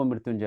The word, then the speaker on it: मृत्युंजय: जिसे मृत्युंजय बोलते हैं मृत्युंजय में जो पॉइंट्स ऊपर लगा है ना उसका उच्चारण करना होगा तब मृत्युंजय होगा महामृत्युंजय मंत्र है तो